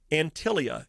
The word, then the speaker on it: Antilia: take a look okay antilia it's spelled ant like ant i l i a Dave the home